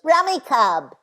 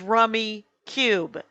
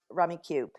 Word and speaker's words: Rummikub: welcome in technology however the computer on my phone when it wins goes rummy cub when everyone knows that it is rummy cube yes go to the rummy cube website it'll say pronounced rummy cube they made a thing and then they spelled it wrong yeah um that that